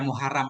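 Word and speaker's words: مَحْرَم: Ya, tapi biasanya orang suka baca mahram, Ustaz. Nah, nggak tahu kenapa nggak dibaca muharram pakai isim maf'ul kan? Iya. Nah, emang kita lihat di kamus juga mahram bacanya.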